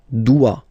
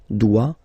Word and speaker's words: doit: Il, elle, doit. Final T not pronounced. Il doit, elle doit.